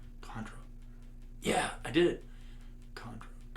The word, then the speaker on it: Chondro: Chondro.